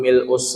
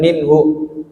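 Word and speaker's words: مِلْءُ: Kalau yang lainnya pakai rabbana lakal hamdu milus samawati wul ardhi wu ma min ba. Awas ya lafalnya milu bukan minhu.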